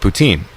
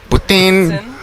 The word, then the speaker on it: poutine: A&W and we ordered poutine. And he's like, you're saying it wrong. It's putain. Or whatever, whatever French people would call it. Poutine. Putin. Which sounds very much like spitting into a spittoon.